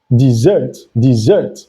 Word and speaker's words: dessert: Now, the one with double S is pronounced dessert, and it means sweet treat you eat after a meal.